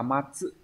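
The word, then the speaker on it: 末: À, chữ nguyệt có cách đọc là gatsu và getsu, nhưng mà trong trường hợp ghép âm ấy nó đọc là getsu. Chữ mạt sẽ là matsu.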